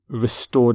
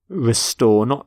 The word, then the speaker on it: restore: Restore democracy. Note the pronunciation of restore, not restore, but restore.